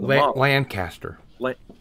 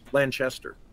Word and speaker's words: Lanchester: sculpt to go on lancaster lanchester lancaster it's lanchester look at this lancaster look at the spell is it is it pronounced lanchester it's spelled lanchester no yes okay well